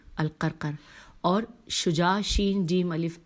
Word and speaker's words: القرقر: قاف الف عین قاء، الف لام قاف رے قاف رے القرقر، اور شجاع شین جیم